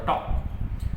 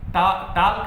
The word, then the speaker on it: talk: जैसे आप लिखते हो ना टॉक, आप टॉक लिखते हो TALK, एल इसमें साइलेंट होता है। वॉक WALK वॉक, इसमें एल साइलेंट होता है। वाल्क नहीं बोलते, टाल्क नहीं बोलते, टॉक बोलते हो आप।